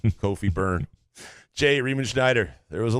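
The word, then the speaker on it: Kofi Cockburn: The cock is silent. It's just burn. Kofi burn.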